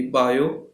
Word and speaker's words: Biot: बायो T silent है, Savart's law.